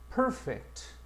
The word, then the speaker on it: perfect: 자, 우리가 일반적으로 1번에이 단어들 보면 형용사일 때는 강세가 앞에 간다. perfect.